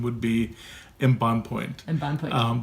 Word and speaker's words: Embonpoint: Embonpoint, is that right? Yes, actually, and the English pronunciation would be embonpoint. Embonpoint. But in French, it's embonpoint, which means plump.